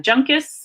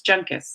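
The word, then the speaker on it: Juncus: say the person's name J is usually pronounced hard so if you see junk as' its junk ass it's not a soft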